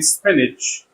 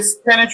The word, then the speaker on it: spinach: Okay, note CH can be pronounced either J or Ch in spinach. You can say spinach or spinach, two possibilities. And it's pronounced J in sandwich in British English and Ch in American English. And the word sandwich, British sandwich, American sandwich.